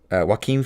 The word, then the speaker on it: Joaquin: It is Joaquin Phoenix, but it's spelled Joaquin.